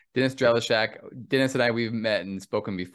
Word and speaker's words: Drellishak: Dennis and Dennis your last name help me pronounce it I should ask it before drella Shack drella Shack Dennis drellichak Dennis and I we've met and spoken before